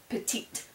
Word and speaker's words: petite: Barney all right and because I added that e I'm going to pronounce that last uh consonant right before it right so this was Petit this is petite right now do you